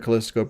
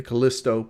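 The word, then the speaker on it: Callisto: remakes way better in kiso protocol I keep saying it wrong right the Kalisto protocol the Kalisto protocol the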